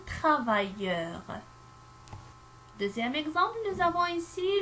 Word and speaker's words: travailleur: Si j'écris une seule, je vais le prononcer un travailleur. Alors, c'est faux. J'écris deux L, un travailleur.